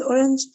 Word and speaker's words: orange: In the word orange, the stress is on the first syllable.